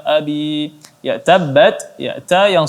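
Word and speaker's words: أَبِي: Ya, ini cara baca yada abi. Kemudian abi di sini mad tabi'i, maka dibaca 2 harakat. Tabbat yada abi. Abi, ya, ini takaran mad 2 harakat, tidak dibaca panjang lagi dan juga tidak dipendekkan.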